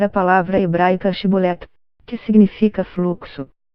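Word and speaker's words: שיבולת: pronunciar a palavra hebraica shibolet, que significa fluxo. As pessoas de Gileade pronunciavam-na com o som CH, enquanto os efraimitas não conseguiam fazer o chiado. Assim, qualquer um que falasse Sibolet ao invés de Shibolet foi morto no local.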